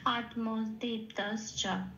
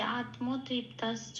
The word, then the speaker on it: আত্মতৃপ্তশ্চ: তাহলে শব্দটার সংস্কৃত উচ্চারণ পেলাম আত্মদীপ্তাশ্চ, এটা।